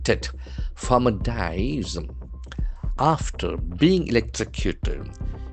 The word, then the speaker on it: electrocute: Farmer dies after being electrocuted. E-L-E-C-T-R-O-C-U-T-E. So that is a very important verb. Electrocute. Electrocute. We have four syllables and the accent for second syllable.